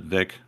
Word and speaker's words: Wick: Gosh, he used to have, maybe that was 4 or 5 years ago, he used to have Tina Wick. Well, she would pronounce it Vic.